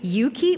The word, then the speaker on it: EUKI: And to do that, we would now like to invite 3 EUKI, or EUKI, depending what language you're speaking, how you pronounce the name of this organization.